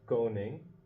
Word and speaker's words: koning: and in Dutch you have koning. You basically do not pronounce that g. It's almost like a ng.